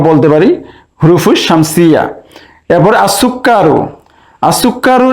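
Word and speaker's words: السكر: পারি হুরুফুস শামসিয়া এরপরে আসুক্কারু আসুক্কার এখানে লাম উচ্চারণ হচ্ছে না তাই এটাকে আমরা বলতে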